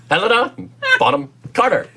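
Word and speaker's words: Helena Bonham Carter: stop pronouncing the h stop pronouncing the age and her name bottom oh okay i was going to say elena that's really weird ellen shaw helena bottom carter and yes that would be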